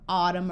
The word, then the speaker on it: autumn: M and N together the N is often silent like in column Autumn or condemn but if you add